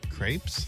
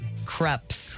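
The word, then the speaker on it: crêpes: I used to love to go to the Magic Pan for their Magic Pan had those crepes. Yes. Oh, why do you say it? Is not crepes. It's creps.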